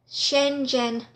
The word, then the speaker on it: Schengen: So you need a thing that is called pronounce this right, Schengen visa.